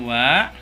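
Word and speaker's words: は: Jadi kalau dalam huruf hiragana ini dibacanya ha, seperti tadi partikel yang ini ya, partikel wa ini. Ini juga sama, bukan dibacanya ha, tapi dibacanya wa ya, seperti itu.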